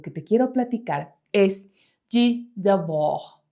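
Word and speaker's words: Debord: Así que el primer filósofo que te quiero platicar es G. Deb. Aquí te voy a poner el nombre porque no tiene nada de parecido por cómo se pronuncia y cómo se escribe. J de Bog es un filósofo francés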